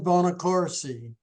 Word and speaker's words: Bonaccorsi: celebrities Our Guest today is stunt performer bonac Cory welcome and thank you for being with